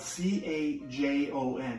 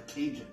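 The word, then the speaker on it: cajón: This is called a cajon. Everybody say cajon. Cajon. It's spelled C-A-J-O-N. You know what I used to say? I thought it was a Cajun.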